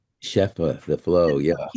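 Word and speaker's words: shefa: I saw it out as what' you call how do you pronounce she cheffa shepha the flow.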